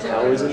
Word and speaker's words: Taoism: Is Taoism and Taoism the same thing? Yeah, it's pronounced Taoism.